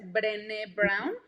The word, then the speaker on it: Brené Brown: búsquenla, se escribe como René, pero con B de burro antes, Brené Brown.